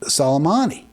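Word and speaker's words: Soleimani: Irani General solomani casm uh is how it's pronounced I believe salomani he said it was like a war it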